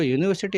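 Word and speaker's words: university: अब ये जो यूनिवर्सिटी हम पढ़ रहे हैं तो इसको य से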